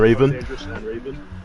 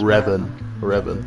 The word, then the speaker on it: Revan: Yo, Poe Dangerous and Raven. If that's how you pronounce It's it. Revan. It's Revan. Alright, bro.